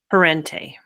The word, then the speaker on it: Parente: Um, and then will you pronounce your last name? Perente.